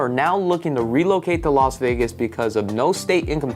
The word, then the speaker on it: Las Vegas: I got ad is it Las Vegas or lost Vegas it's Las Vegas right I believe it's l it's Las Vegas that's how you pronounce it technically but um where was I